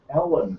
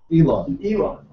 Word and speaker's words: Elon: of called PayPal I I thought you said Ellen mus that's his name e l n Elon it's a sou Amer